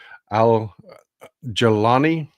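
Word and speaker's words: al-Jolani: The first one is Abu Muhammad al-Jalani, is how it's pronounced. It's not exactly how it's spelled, but al-Jalani is the head of Tahrir al-Sham.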